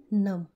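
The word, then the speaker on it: numb: my fingers are getting नम my fingers are getting नम देखिए हम जब लिखते हैं तो इसे नम लिखते हैं बट B will be silent तो इसे हम पढ़ेंगे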